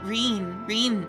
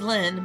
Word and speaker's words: Lynn: Reen, I mean, not. Reen's pretty close to my name, yeah? My name's Lynn, but it's also easily, pronounced as Reen.